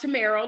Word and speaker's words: Tamairo: and and and my name is pronounced tomero like the car camaro and i tell people